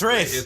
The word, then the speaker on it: Ralph: But it's, I think Gene Hackman, I think Ralph Fiennes is probably like the Rafe? I don't know. Rafe. It's Rafe. Which is it? I'm telling you, it's Rafe. The L is silent or somehow.